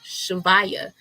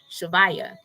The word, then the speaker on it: shivaya: look up um nama shivaya shivaya shh it's spelled s-h-i-v-a y-a so that's like shiva yeah let me let